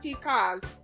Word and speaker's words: tica: would be males, and ticas. Did I pronounce it right, tica? That's yeah, you pronounce it pretty well.